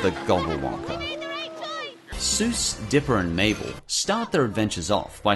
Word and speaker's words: Mabel: Mabel, it rhymes with table.